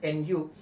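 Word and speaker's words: ν: it is in you it's pronunciation is nu it's a Greek alphabet but then for simplicity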